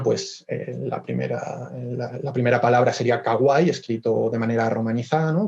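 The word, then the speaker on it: かわいい: Se lee ai, como digo, es una de las lecturas que tiene, para evitar esa cacofonía, ¿no?, de ka, a, ai, se cambia, ¿no?, esta pronunciación por kawaii, es una manera de facilitar su uso.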